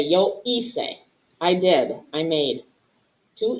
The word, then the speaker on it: hice: We want this C to sound like a soft C, like an S. Hacer, hice, hiciste.